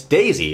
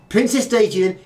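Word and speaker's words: デイジー: small problem here because you don't say uh Daisy in Japanese it's not right okay what you're going to do is say what you see on the screen there which is ah princess de no not Dei Princess Daisy is de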